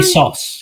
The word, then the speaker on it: ASOS: You said is it ASOS? Am I saying it wrong? ASOS, yes. ASOS.